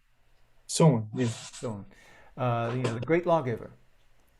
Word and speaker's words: Solon: Is that how you pronounce it? Solon? Solon, yeah.